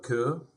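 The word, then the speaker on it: Køge: until I arrived to a little town called Koo it was spelled like Co again and from there it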